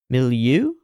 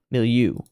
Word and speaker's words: milieu: or the cultural milieu no how do I pronounce that below middle milieu milieu okay and the choice of a masculine ideal